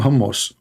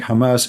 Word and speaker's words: Hamas: He called them hummus. He just called Hamas hummus. Hamas. What Hamas? Okay. So, yeah, well, Trump, he have a very high skills in languages. So he think Hamas is hummus.